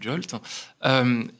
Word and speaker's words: JWT: On peut utiliser des jetons JWT, qu'on appelle souvent du JOLT. Ça se prononce souvent du JOLT.